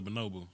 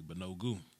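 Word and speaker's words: Banogu: No, that's my son's brother, Bonobu. Okay, cool. Yeah, Bonogu. I got to make sure I say his name correctly. Bonogu.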